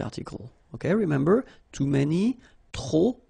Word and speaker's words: trop: Okay, remember, too many, trop, don't pronounce the final P.